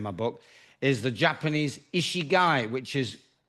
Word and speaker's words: ikigai: is covered in my book, is the Japanese ikigai, which is spelled Ikigai, ikigai.